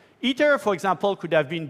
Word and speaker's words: ITER: Now, this is ITER, pronounced in French, ITER.